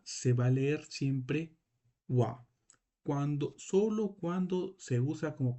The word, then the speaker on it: は: esto es un ja, porque tú lo pronuncias como wa, porque aquí este kana no está cumpliendo la función como un kana normal, sino acá está cumpliendo una función de partícula que nos va a dar una información muy importante.